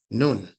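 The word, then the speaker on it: نون: Nun. Some people spell it N-U-N for phonetic reasons, purposes of proper pronunciation. I usually spell it N-O-O-N if it's separate.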